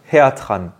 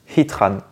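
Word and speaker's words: Heatran: se prononce hitran ou hatatran hatatran plutôt hatatran est-ce qu'il se prononce hitran ou hatatran et bien il se prononce hitran et oui hit ça veut dire chaleur en anglais et Ran c'est un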